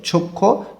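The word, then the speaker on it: 좋고: খ্যংছেগা দৃশ্য বা প্রাকৃতিক দৃশ্য, চক্ষু ভালো, গো দিয়ে এবং বোঝাইতেছে, ভালো এবং, এখানে হিউতের পরে গিয়ক আছে, এই জন্য এই গটা খ উচ্চারণ করতে হবে।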